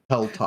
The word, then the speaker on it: Helltop: That also when you said the name of the inn, was it Hilltop or Helltop? Helltop.